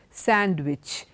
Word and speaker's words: sandwich: many of you say read Nestea hand kerchief sandwich if you do remember handsome we don't say all that the pronunciation is wrong in all these four words